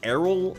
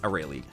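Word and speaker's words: Arale: I even pronounced her name Errol until I saw how it was heard recently. Funny enough, I've been saying Errol my whole life. It's Aurelie.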